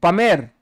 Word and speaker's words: Palmer: there same pack BR Palmer L is silent pame no p Tom please